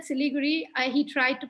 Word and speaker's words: Siliguri: how he used to so when i said siliguri he tried to pronounce it and he still calls it silly gory so he so this is how so he